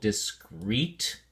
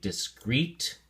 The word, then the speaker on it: discrete: separated okay pronunciation uh the emphasis is on the second syllable discret so we say discret and it's an adjective